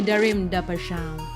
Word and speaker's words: Darim da Paixao: We're chilling with the one and only Darim da Paixao.